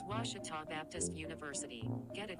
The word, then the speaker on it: Ouachita: ouachita sports digital network i've heard people say oh a cheetah oh wichita oh a cheetah is it pronounced searching for washi at a baptist university back in texas everybody pronounces it wichita but really it's ouachita washington washington how would